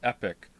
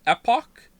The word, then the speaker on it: epoch: you played Chrono Trigger many people pronounce it epic what it's Epoch or app Oh you mean Epoch not epic epoch it's not epic Epoch